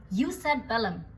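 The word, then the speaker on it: jus ad bellum: तो जस्ट war theory के 3 main components हैं और ये इटालियन टर्मिनोलॉजीज हैं तो इनकी प्रोनाउंसिएशन इंग्लिश से थोड़ी सी अलग है. First is यूस एट बेलम मतलब कि जस्ट कंडीशंस फॉर वॉर.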